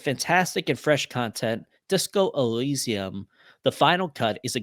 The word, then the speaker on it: Elysium: that is not that small disco Eliza I pronounce that Elysium I think Elysium uh by Andy J dope son yeah stop